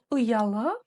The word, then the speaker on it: ұялы: Помним, что буква У с черточкой снизу читается очень просто. Это краткая версия буквы У. Если буква У — это 100% звучания О, то буква О — это ее краткая версия, 10% звучания.